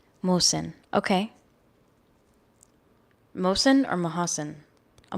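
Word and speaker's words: Mohsen: question is about Mo Mosen am I pronouncing his name correctly Mo Mosen Mosen I feel like the H is silent Mosen m o h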